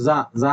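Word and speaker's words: czar: ഐടി എന്നാണ് ഇദ്ദേഹത്തെ അറിയപ്പെടുന്നത് സ എന്ന് പറഞ്ഞു കഴിഞ്ഞാൽ റഷ്യ ഒരു റഷ്യൻ വേർഡ് ആണ് എമ്പറർ എന്നും റൂളർ എന്നൊക്കെ അർത്ഥമുള്ള ഒരു ഇതിന്റെ ഉച്ചാരണമാണ് സി സെഡ് എ ആറിന്റെ ഉച്ചാരണമാണ് പ്രൊനൗൺസിയേഷൻ ആണ് സ എന്ന് പറയുന്നത് സി സെഡ് എ ആർ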